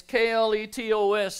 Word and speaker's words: kletos: In the Greek, this word is the kletos. If you want to spell it, it's K-L-E-T-O-S in the English transliteration, kletos.